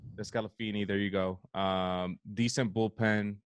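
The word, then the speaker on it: DeSclafani: Wade Miley, the 4th starter, Anthony Descalfani. I can never say his name. Descalfini, there you go.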